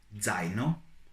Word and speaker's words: zaino: And this one is also a little bit tricky because it can be pronounced both as z and t, z, z, and t. For example, zaino, zaino, which is a backpack, or pizza, pizza, which is pizza. And there are no certain rules about the pronunciation of this letter, so you will have to learn it on the go.